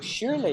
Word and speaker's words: surely: That's not how you spell it, but that's how I'm sounding it out.